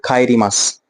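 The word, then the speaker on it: 帰ります: का और खा, हल्का सा ना, ये प्रॉपर का नहीं पढ़ा जाता है, ये पढ़ा जाता है हल्का सा खा, जो खा खरगोश वाला होता है।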